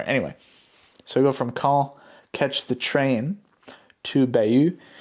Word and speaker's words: Caen: It's pronounced Caen, I think. I thought it was Cane, but I guess it's Caen, something like that.